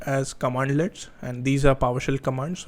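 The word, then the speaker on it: cmdlet: These are oftenly pronounced as commandlets, and these are PowerShell commands which you can execute against any system.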